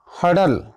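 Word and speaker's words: hurdle: पहला वर्ड्स है आपका हडल, हडल मीन्स होता है बाधा, हरल्ड मीन्स बाधा, आर साइलेंट है, हडल बाधा।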